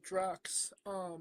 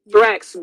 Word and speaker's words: Thrax: Well, you mentioned DJ Drax. Thrax, get his name right, James.